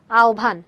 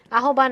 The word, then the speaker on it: আহ্বান: এটার উচ্চারণ কি? আহবান না। এটার উচ্চারণ হচ্ছে আহবান। হয়, ব থাকলে আমাদের কি হয়? হয়, ব থাকলে ও ভয় অথবা উভ হয়।